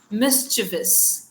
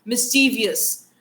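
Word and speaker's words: mischievous: Pronunciation is मिसिविस मिसिविस अगर ये मिसवियस होता तो वी के बाद आई आ जाता नॉर्मली ठीक है आई एग्री के इंग्लिश में कुछ ऐसे साउंड्स डाल देते हैं जो साइलेंट होते हैं बट इसमें तो आई है ही नहीं बट स्टिल हम लोग उसको प्रोनाउंस कैसे करते हैं? मिस्टीवियस and there is नो आई।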